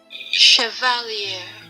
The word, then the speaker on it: Chevalier: don't know is it is it Chevalier cuz I ran through a car earlier Annunciation it's French it's correct Chevalier also shovel you that's